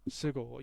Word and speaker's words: Seagal: Get that Steven Seagal bullshit out of here. Just Steven Seagal. I will. You don't know who Steven Seagal is? Are you serious? No, I said that because you said Chagall. Seagal.